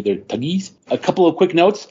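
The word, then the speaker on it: Thuggee: is funny you know I always pronounce it thuggy because it's where we get the word Thug from in English but they go tuy so it's it's fun to say they're tugies a couple of quick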